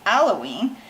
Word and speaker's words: alloying: It's not allowing, it's alloying, which I'm not sure if that's spelled right or not.